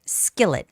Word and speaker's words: skillet: Skillet. Skit. I has the stress.